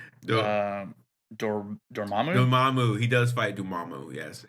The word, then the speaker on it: Dormammu: Dormammu.